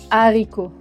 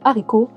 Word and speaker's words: haricot: Mais la règle est que le H de haricot est un H aspiré. Donc normalement, pas de liaison.